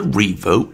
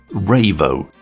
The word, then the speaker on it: Revo: just deal with pronunciation I've checked with Frozen and they pronounce it ravo though they're not particularly bothered how it said I wondered if it was going to be Revo as in Revolutionary printer but to be honest I don't think it's fair to call this product that so I'm going to be all British about it and pronounce it as Revo but you can pronounce